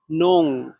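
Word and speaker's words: 弄: 4 number tone উচ্চারণ করার নিয়ম হচ্ছে জোরে নিচে পড়বে, নোং, নোং। মানে এটা একটু দ্রুত ভাবে, মানে ডাইরেক্ট নিচের দিকে পড়বে, নোং।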